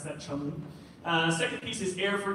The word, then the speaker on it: Cholmondeley: Yes, it doesn't look like Cholmondeley, but you can pronounce that Cholmondeley.